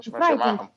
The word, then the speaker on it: frightened: في الفirst syllable, frightened. Yeah, frightened starts with the first syllable is stressed. The next one isn't.